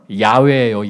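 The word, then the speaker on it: 야훼: 치연으로부터 구원하시는 하나님이란는 뜻인데이 여호와도 원래 히브리어 원문을 보면 야외예요. 야외. 야외라고 써 놓으려고 하다 보니까 야외 하나님이라고 번역을 하려고 하다 보니까 신뢰 야외 좀 이상하잖아요. 그래서 야외의 그리스식 발음인 여호와 이렇게 여호와 하나님 번역을 한 거예요.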